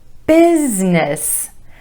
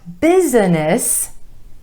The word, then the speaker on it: business: different number four business business not busyness two syllables business emphasis on the first syllable and the bowel sound business your business it's